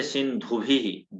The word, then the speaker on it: सिंधुभिः: घोष शब्दों में आपके साथ थोड़ी दिक्कत है। जैसे सिंधुभिः, ध जो है ये घोष वर्ण है। तो जहां जहां घोष वर्ण है एक बार आप देखिएगा, उसको आप थोड़ा, वो अघोष उच्चारण होने लगता है। जैसे धकार के जगह थोड़ा सा दकार की ध्वनि आने लगती है, तो वो परफेक्ट कर लीजिएगा।